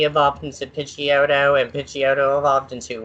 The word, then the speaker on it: Pidgeot: kid G of opposite Pidgeotto and pitchy odo evolved into what now he Pidgeot thank you thank you that's the correct saying it I know somebody who still says pigeon ty you've met that person